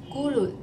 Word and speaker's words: 咕噜: Gulu. This is the same pronunciation when you drink water faster.